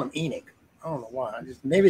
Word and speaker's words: Enoch: you're not you knock oh it is enoch my bad e nick huh god dang man i'm right about something i was going from the biblical sense i guess or maybe i've been pronouncing that wrong too how you bet yes eileen we're all in shock right now howard was actually correct he was correct on the pronunciation suck another one eileen